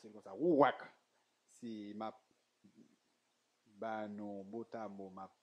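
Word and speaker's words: רוּחַ: je prononce comme ça, ouak. C'est ma banon, botamo, ma libre, ma banon, comme un orthographe là. Il est écrit R, O, U, A, H. Il est prononcé ouak.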